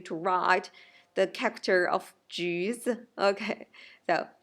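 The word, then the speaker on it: 橘子: It pronounced like 橘子，橘子 neutral tone.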